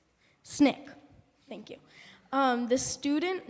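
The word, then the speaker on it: SNCC: Snick.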